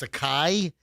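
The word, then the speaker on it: Akay: They go over to I thought it was it's A-K-A-Y, but he said it's Akai, I guess is the pronunciation.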